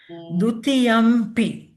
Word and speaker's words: dutiyampi: But we pronounced Dutiyampi, ma. That's right. No, that's different. So Yeah. dutiyampi, it's distinctly a m there because it's Yes. followed by a, and it's a labial sound pronounced with the lips.